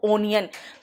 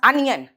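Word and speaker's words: onion: बेटा ओ का प्रोनाउंसिएशन अ भी आता है, जैसे अनियन, कुछ लोग कहते हैं इसको ओनियन, बिल्कुल गंदा घटिया लगता है सुन के, इट्स अनियन।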